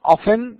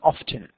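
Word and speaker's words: often: من دلاله كلمه اوفن والبريطانيين بالمناسبه ينطقونها اوفت الامريكان يقولون اوفن والبريطانيين افتن طيب في النص سم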